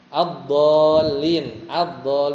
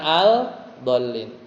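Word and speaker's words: الضالين: Ad-dallin bukan al-dallin.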